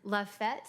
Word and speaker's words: Lafayette: Susan grew up in Lafayette, is that how you pronounce it?